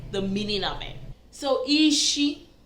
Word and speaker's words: isi: The head is ishi, ishi. Okay, I remember when I was teaching you the numbers, it was ishi, was number 6, ishi. But mind you, it's different pronunciation. Same word, but different pronunciation.